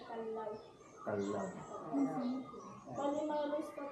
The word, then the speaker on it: Callao: May tatlo pong pronunciation. First po, kalyaw, kalyaw, kalyaw. Ang kalyaw means po ay nasa Spanish word means po, peaceful tamang quiet village. Yung kalyaw naman po, yun yung Rufus Hornbill. Yan ano siya. At ang totoong pronounce ko dyan ay kalaw.